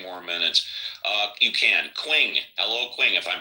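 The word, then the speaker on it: Qing: Quing. Hello. Quing, if I'm pronouncing that right. Quing. Quing. Q. Q I N G. Q I N G once. Q I There it goes. It's pronounced as Ching.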